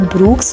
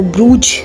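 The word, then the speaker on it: Bruges: और उस beautiful city का नाम है जी ब्रूक्स, और वहाँ पे बेल्जियम में लोग उसको ब्रूज करके प्रोनाउंस करते हैं।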